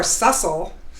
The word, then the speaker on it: Sussel: less stress life Seussville hi and so I hate to correct you right out of the gate I should have told you before sussel rhymes with muscle which is a good